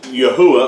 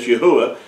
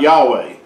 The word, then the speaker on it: Yahuwah: we know that the Creator's name is Yahuwah, or pronounced as Yahuwah and not Yahweh.